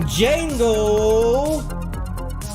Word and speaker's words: Django: Filming at you live from Montclair's public access TOS TV3 Studio D, as in Django. The D is silent.